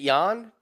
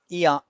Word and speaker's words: Ion Cuțelaba: Is it Jan? Is it pronounced Jan? Eon.